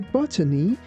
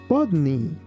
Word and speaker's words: botany: Just keep in mind that if you say botany, it's not the end of the world. However, in US pronunciation, it's better to say bodney. Bodney.